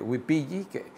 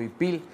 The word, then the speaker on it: ipil: Se antepone porque es una palabra que empieza con vocal porque la H es muda, ¿no? Y de esa forma llega al español yucateco como ipil, no decimos huipil, ¿no?